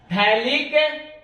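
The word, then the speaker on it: phthalic: पीएच यहां silent है, थैलिक acid. आप देख सकते हैं इसका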